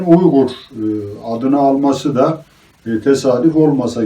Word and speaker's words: Uygur: değiller Bu nedenle buu Uygar olarak telaffuz etmişler ve beş Uygar kabile şeklinde Eee tarihi kitaplarında yer alıyor ama yazılışına baktığımızda bunun beş Uygur kabile olduğunu orijinalinin net olarak görebiliyoruz